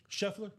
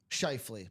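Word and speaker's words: Scheifele: They're Sheffller. No, not Sheffller. S C H I or H E I F E L E. Chafili, I think is what it is. Shaili. Let me get that pronunciation. Shley.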